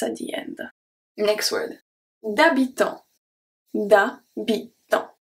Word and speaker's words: d'habitant: D'habitant. D'habitant. So here, the H, I told you, H never pronounce. D'habitant, so we have the T and the S, silent.